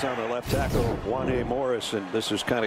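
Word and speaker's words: Wanya: it looks like uh it rhymes with kanye and i said only in this day and age would we use kanye as a reference to pronounce juanie so kanye west if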